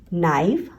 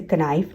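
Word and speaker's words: knife: Okay, KN में K जो है वो साइलेंट होता है। नो, नाइफ, हम इसे कनाइफ नहीं पढ़ रहे।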